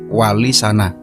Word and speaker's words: Walisana: yang memiliki arti Mulia sehingga pengucapannya adalah walisana yang berarti wali-wali yang